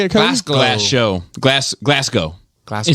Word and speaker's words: Glasgow: __ ] this up glasgow is pronounced like it rhymes glass with show not like cow a little bit of